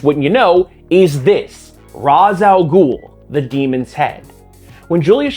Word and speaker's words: Ra's al Ghul: The creator of Razz al Ghul pronounces it as Razz al Ghul.